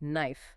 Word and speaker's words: knife: And you see a similar anatomical simplification in words like knife, knight, and gnaw. With the silent K and G. Yes. Hundreds of years ago, the initial K and G in those words were fully pronounced.